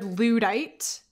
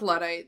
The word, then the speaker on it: Luddite: I learned that the word ludite means a person opposed to new technology or ways of working. Oh, yeah. So I think it's pronounced Luddite. Or Luddite. Okay, great.